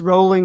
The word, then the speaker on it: Rowling: i pronounced uh jk rowling's name wrong several times last week is it rowling or rolling it's rolling like bowling okay and i did